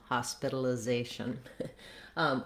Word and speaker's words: hospitalization: So the first syllable, ha, letter O says the ah sound. This is typical for a stressed syllable in English. Words like hot, job, problem, that vowel, that letter O says vowel ah.